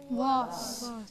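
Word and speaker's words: vase: See the word, V-A-S-E. Was. The word is was. The word is was. And American is race.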